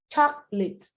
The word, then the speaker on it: chocolate: It's a word that looks like it should have 3 syllables, but kindly say it with 2. Chocolate, chocolate.